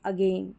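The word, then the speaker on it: ago: श्व साउंड में ए को अ पढ़ते हैं। मतलब थोड़ा प्रेशर नहीं पड़ता। बिल्कुल सॉफ्टली साइज का जैसे अबाउट अगेन ए में प्रेशर नहीं पड़ रहा है वहां पर।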